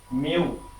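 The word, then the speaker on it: μ: এটাকে আপনারা কিন্তু প্রোনাউন্সিয়েশন করবেন মিউ, ঠিক আছে, এটা কিন্তু গ্রিক লেটার, সো এটা হচ্ছে মিউ।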